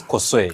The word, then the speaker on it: Kosoy: Thank you for having First, first and foremost, I believe I had the pronunciation of your surname correctly. Yes, it's Kosoy.